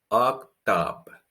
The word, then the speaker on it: octobre: Can you see the difference? We have an O sound at the beginning, which is closed sound, O. And then we have A, which is an open sound, which is the O with an accent.